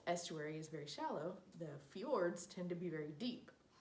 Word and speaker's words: fjord: the fourth type is an odd word its FJ Ord but it's pronounced fjord this is a fjord in Alaska